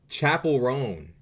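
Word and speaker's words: Chappell Roan: her name forgive me oh it's chapel chapel rone bro bro come the [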